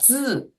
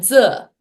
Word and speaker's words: 字: uh, I need to like be really careful not to say 汉字. So I think when I talk a little faster, and again, this just goes back to our previous topic of, hey, slow down. But I can sometimes find myself placing the I sound where the E sound should be.